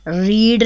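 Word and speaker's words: read: Sheri has नॉट रीड नहीं पढ़ेंगे, रेड the novel. देखने में तो इसके स्पेलिंग्स रीड की तरह हैं, पढ़ने में इसका प्रोनाउंसिएशन रेड होगा।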